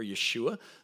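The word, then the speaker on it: ישוע: to Jesus uh here he is referred to as yeshu or Yeshua the way Jesus's name would have been pronounced in Hebrew and the passage reads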